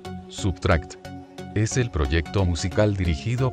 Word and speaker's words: SBTRKT: la máscara puesto ocho sbtrkt pronunciado sería subtract es el proyecto musical